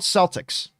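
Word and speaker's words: Celtx: in existence uh uh it's called celtics and it's it's spelled c e l t x it is a free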